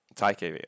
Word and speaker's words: TiKV: Today, we are very happy to welcome Wish Shi, and we'll talk about TiKV. Is that how you pronounce it? TiKV.